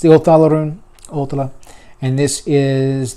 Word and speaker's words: Othala: This one is Othala, or Othala, depending on how you pronounce it. Othala is how I pronounce it.